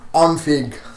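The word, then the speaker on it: ONIFC: And lastly, in music, in albums and singles news, we are talking about Onfig. That's how you say it.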